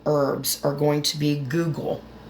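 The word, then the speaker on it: guggul: are going to be Google g u g g u l and it's spelled just like the search engine pronounced the same way as a search engine Google it's very good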